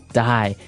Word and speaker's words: dye: Dye. So it's pronounced exactly the same way as, to die, to not live anymore. Die. But it's spelled differently. D-Y-E.